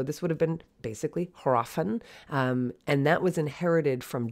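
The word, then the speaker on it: hræfn: it for you because in old english there would have been an h and that h would have been pronounced then but today we would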